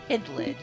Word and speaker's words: Hydlide: Bush 33 month resub I pronounce it idlid hidland thank you and